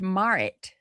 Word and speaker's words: Marit: It's actually pronounced Marit.